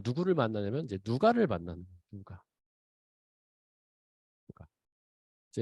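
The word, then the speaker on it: Λουκᾶς: 그런데 이 바울이 이렇게 복음을 전하다가 누구를 만나냐면 이제 누가를 만나는 누가. 이제 원어 발음은 사실 누카에 더 가까운데 누가를 만납니다.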